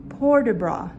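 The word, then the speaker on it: port de bras: the bar she's also showing por de bra that's p-o-r-t d-e r a s por de bra is movement of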